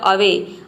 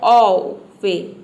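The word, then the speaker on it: away: इसको आपने प्रोनाउंस किया पहले ओवे ओवे तो इस तरह से इसका अ प्रोनंसिएशन जब प्रोनाउंस करेंगे तो आपको लगेगा कि रॉन्ग है तो इसका प्रोनंसिएशन क्या होगा अवे देखिए यहां पे ए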